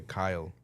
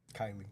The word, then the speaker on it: Kylie: Is it Kylie or Kyle? Kylie. Kylie Paige passed away.